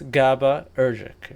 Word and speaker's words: GABAergic: It suppresses them using inhibitory neurons, largely GABAergic. Yeah, something like that. That feels wrong to pronounce. To be honest, it's GABAergic.